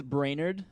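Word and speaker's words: Brainerd: my last name is brainer we've gotten that addressed uh it is pronounced like brain and nerd put together so Middle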